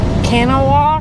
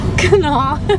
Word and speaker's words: Kanawha: It is at the confluence of the Ohio and the Kanawha rivers. Kanawha.